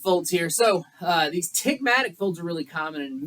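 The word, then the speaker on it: ptygma: tight little folds called tigma you don't even pronounce the P all right these other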